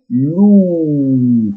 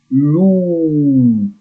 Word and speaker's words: loup: Un loup. Look at here, it's double O. Loup. Like the sound for this animal, I say loup all the time. Un loup.